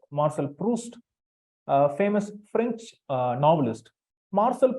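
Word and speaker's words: Marcel Proust: proust p r o u s t it's pronounced Marshall proust a famous French novelist Marshall post is known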